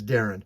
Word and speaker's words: Deron: It looks like it's Deron, but it's Darren. That's how they pronounced it.